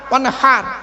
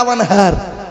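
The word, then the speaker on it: وانحر: ইন্না আতাইনাকাল কাউসার ফাসাল্লি লিরাব্বিকা ওয়ানহার, এই গলার ভেতর থেকে হে এটা উচ্চারণ করবেন।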